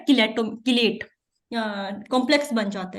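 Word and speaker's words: chelate: अक्सर आप किलेट बनते हैं इसमें, ठीक है, आप किलेट भी पढ़ रहे होते हो, चिलेट बहुत लफ्ज गलत है, जो प्रॉपर प्रोनाउंसिएशन है वो है किलेट।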